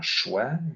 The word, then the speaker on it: choix: Le X peut être muet comme dans choix ou noix, la paix. Donc, le X est muet.